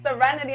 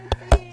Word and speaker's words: Sincerity: Because some people call me Serenity. I'm like, that's not Serenity. It. It's Sincerity. Sincerity.